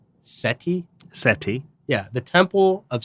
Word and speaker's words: Seti: you at the temple of, I think it's pronounced Seti.